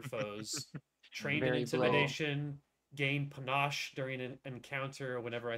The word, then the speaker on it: panache: train your intimidation gain Panache during an encounter whenever I successfully demoralize it is that how we say it is panache it might be a tomato tomato situation I'm pretty sure it's Panache but I